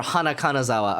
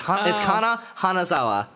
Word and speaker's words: Kana Hanazawa: and also one of them is voiced by Kana Hanazawa. So did I say that right? Kana Hanazawa. Your wife. I can never remember if it's Kana Hanazawa or Hana Kanazawa. Okay, it's Kana Hanazawa.